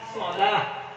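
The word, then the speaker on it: صلاة: begitu diubahbahasa jadi salat Biasanya kalau di TA marbutah terakhirnya itu diwakafkan bacanya tidak dikasih harkat bunyinya ha salah ya kan begitu salah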